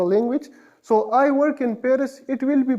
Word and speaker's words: Paris: So, in Italy or Italy, in Spain or Espagne, in Paris, à Paris, à Paris. Paris is known as Paris in French, Paris.